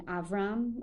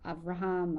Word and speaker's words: Avram: Then Avram, I've heard it, or Avraham, or Avram, they always pronounce it different.